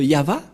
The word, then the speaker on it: Yahvah: tout complet c'est pourquoi je vous ai dit voilà la PR la vraie prononciation et voilà son vrai nom en juif car chemo veut dire non c'est pourquoi il est écrit ici yava et son nom c'est yava son nom et vous